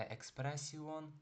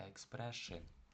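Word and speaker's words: expression: Не експресіон, а експресшин. І останнє оцевого читається тоже як шиль.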